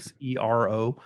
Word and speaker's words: Xero: One is made by Garmin, the Zero, and Zero is spelled with a X, like Right. Xero.